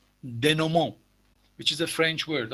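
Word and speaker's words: dénouement: leading toward resolution or it is also called denomo which is a french word i'm going to write it down denomo it is written the new mint but it is pronounced denomo is anyone else have a okay thank you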